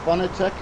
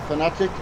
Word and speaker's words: Fanatec: They're both Fanatec, or Fanatic, however you want to pronounce it.